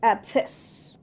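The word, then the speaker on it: abscess: অবসেস। অবসে দেখো সি উচ্চারণ হবে না। তাই আমরা বলব অবসেস।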